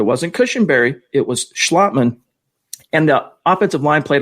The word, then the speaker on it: Schlottman: friday it was austin schlotman and it is schlottman we've been mispronouncing it on this show calling him schlotman it's actually schlotman but nevertheless he was